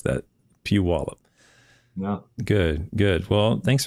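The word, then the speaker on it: Puyallup: I can't pronounce that that City it's you pronounce it Pew wallup PE peup yeah PE yeah there's lots of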